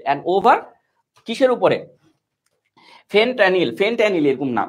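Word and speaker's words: fentanyl: ফেনট্যানিল এরকম নাম উচ্চারণটা হবে, ফেনট্যানিল, ঠিক আছে, মানে একটা মাদকের নাম।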